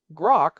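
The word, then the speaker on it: Groq: Grock, which rhymes with Grock, has been the leader in ultra-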